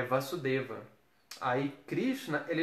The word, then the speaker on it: Vasudeva: Aí Krishna, ele é chamado de Vasudeva, com o A longo, né? Aquele acentozinho longo assim, né? Que parece um tio, mas é reto em cima do A. Ele dobra a duração de tempo da sílaba, né?